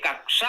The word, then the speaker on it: कक्षा: जानकारी नहीं है कि इसमें का और स जुड़ा हुआ है तो वो छ या कोई और वर्ण बोल सकते हैं जानकारी ना होने के कारण शुद्ध उच्चारण हो जाता है कच्छा अलग शब्द है जिसमें आधा चा और छ है वो एक वस्त्र है पहना जाता है कच्छा उसमें चा और छ है ये कक्षा है जो ग्रहों का परिवहन